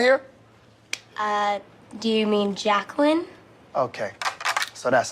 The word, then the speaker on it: Jacqueline: Garvey who has some interesting uh ways of pronouncing people's that's that's correct Jay quellin it is where's Jay quellin at no Jay quellin here uh do you mean Jacqueline okay so that's how it's going to be